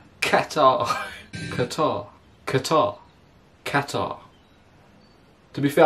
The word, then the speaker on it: Qatar: YouTube or Google pronunciation you say cutter but that's wrong anyway I say Qatar Qatar mr.